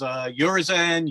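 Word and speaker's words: Urizen: think of it as yourison but I've heard as urisen your reason all kinds I think of it as your rizon a bit like Horizon something yeah so not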